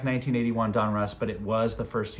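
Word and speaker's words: Donruss: Russ Russell and so they came together put their names together and so uh that's why it's called Don Russ and that's why I pronounce it Don Russ so 1982 Don Russ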